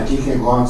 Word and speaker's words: Kierkegaard: Portela, Kierkegaard, sim, eu confirmo inteiramente o acerto da sua pronúncia.